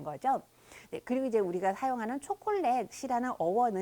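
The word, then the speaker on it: chocolate: 그리고 이제 우리가 사용하는 초콜렛 시라는 어원은 의 어원을 잠깐 보자면 이제 그 스페인어로 는 초 콜라 때 라고 하는데요 예 영어랑 4 영어 초 커리 타고 내 스펠링이 동일하 줘 예 어 아 스티카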